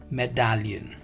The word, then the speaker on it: médaillon: So the next, the pronunciation of this is Médaillon, right? It's not me, it's Médaillon. Médaillon. You can say Médaillon.